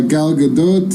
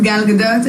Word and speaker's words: Gal Gadot: her name definitely okay we're here with uh gal gadot here's god hello my name is gal gadot i'm obviously hello my name is gal gadot